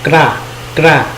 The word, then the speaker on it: kra: Ok, các bạn cố gắng đọc chậm là cờ ra thì nó mình cũng hiểu, tạm hiểu nha. Nhưng mà khi mà giao tiếp á, thường người ta sẽ đọc rất là nhanh. Đó, đọc là kra.